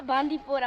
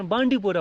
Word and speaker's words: बांदीपोरा: बांदीपोरा समझ में नहीं आया, मुझे नहीं मालूम था बांडीपोरा बोलते हैं आप। हाँ। हाँ, मैंने उसकी स्पेलिंग देखी नहीं तो मुझे लगा बंदीपोरा है, लेकिन वो बांडीपोरा। अब तक मैं वीडियो में बंदीपोरा बोल रहा था, तो मैं गलत बोल रहा था।